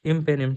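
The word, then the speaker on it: imipenem: ये बहुत इजी है, आई एम पिनिम ऐसे करके याद रखना, ऐसे तो इसको अपन प्रोनाउंसिएशन करते हैं इम्पेनिम, ठीक है।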